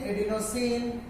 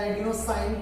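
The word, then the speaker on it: adenosine: तो एडीपी को क्या लिखेंगे, एडिनोसिन, एडिनोसिन या एडिनोसाइन, कुछ भी प्रोनाउंसिएट कर सकते हैं।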